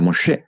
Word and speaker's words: Moisés: Nosotros le decimos Moisés, pero bueno, originalmente se pronuncia Mosé, ¿no?